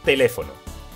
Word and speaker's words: teléfono: Tenemos la palabra teléfono. Truco de la palmada. Te-le-fo-no. Ahora vamos al truco del lobo. Teléfono. Lleva la fuerza de voz en le.